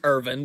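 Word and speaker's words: Erwin: yet I figured out it's pronounced Irvin because it's German so yeah their W's are pronounced as V's so yeah or at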